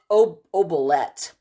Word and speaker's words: oubliette: It's spelled oubliette, but it's pronounced oubliette, and it means to forget in French.